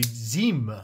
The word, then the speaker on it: Zhim: And the reason that I pronounce it that way, if you take a look further into their packaging, this pad comes out. There is a certificate of authenticity right here that describes that this is the Zhim. I believe that when they write it out on an American website, it's spelled Z-H-I-M, but clearly they want us to pronounce it in this way.